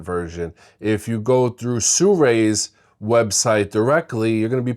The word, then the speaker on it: Sirui: I know cuz Sur told me it's really Sur Sur I know it doesn't look like it but that's how it's pronounced now when it comes to autofocus especially